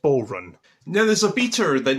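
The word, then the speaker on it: bodhrán: discovered what it was called it's called a bodun actually no it's not it's called a bow run it's an Irish hrum and it took me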